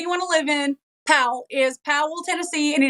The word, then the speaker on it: Powell: So your family's from Powell, which we call Powell, right? So Powell, it's P-A-L, Powell. But it is spelled Powell, Powell, but we call it Powell.